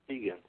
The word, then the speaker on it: Keegan: If Keegan, the lives mattered, that's only Keegan. I gave y'all Keegan. Rhymes with vegan.